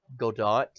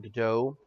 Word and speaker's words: Gadot: Godot, it is Godot, Godot. But wait, go that? yeah, like Gobot, like it's Or Gobot, Godot, wait, is it Godot or Godot? Godot. Like you're supposed to pronounce the T, and apparently we've been mispronouncing it for forever now.